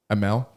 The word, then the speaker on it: Emmel: how do you say your last name emma emmel ammo good i think you had a good